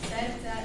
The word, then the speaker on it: serca: So I now know the pronunciation a little better. Sersa, do sersa. Troszeczkę lepiej teraz wymawiam, powiem serca do serca.